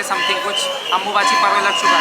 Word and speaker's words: अम्बुबाची: अम्बुबाची बोला जाए, अम्बुबाशी बोला जाए लोकल लैंग्वेज में, असमीज भाषा में। तो अम्बुबाची होता है, जिसका प्रोनाउंसिएशन अम्बुबाची करते हैं।